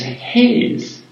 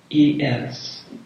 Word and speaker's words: Hayes: When you consider, my family name is Hayes, Hayes, and it suits me well because it's pronounced just like haze, Hace.